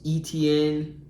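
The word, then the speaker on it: Etienne: I'm gonna have to get your help on this pronunciation man Jackson Jaguars Travis etn Jr etn Jr there you go my man you Travis etn Jr he is number 11.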